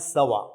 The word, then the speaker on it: Savart: experimentally determined by biotin savarts it is actually pronounced as bo and sawa that is the correct pronunciation the biot can